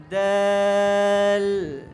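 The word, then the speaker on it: دال: দাল দাল, দাল নয়, দাল বললে মোটা হয়ে যাবে, এটার উচ্চারণটাও পাতলা, এটা বলতে হবে আমার মতো দেখো। দাল দাল দাল দাল, এটা সহজ, কিন্তু শুধু একটু পাতলা করে উচ্চারণ করতে হবে।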